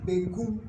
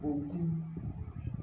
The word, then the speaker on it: benkum: Now the word benkum, the left hand, is sometimes pronounced bonkum. If you listen carefully, you will hear that the a in benkum has gone back to become bonkum because of the b,